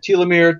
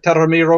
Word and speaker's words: telomere: the death or the the way you pronounce telomere you can pronounce it telomere telomere oh tara misu remarks